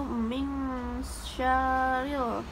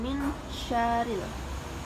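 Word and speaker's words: مِنْ شَرِّ: hukum ikhfa yang dimana nun mati bertemu dengan huruf Syah maka dibacanya wajib dengung atau mengembang yaitu Ming syarril bukan Min syarril Hai pengertian mad dalam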